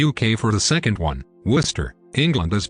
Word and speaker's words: Worcester: to blame the uk for the second one worcester england is pronounced the same way many cities in massachusetts